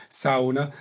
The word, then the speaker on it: sauna: We call it sauna in North America, but I've been told it's pronounced sauna.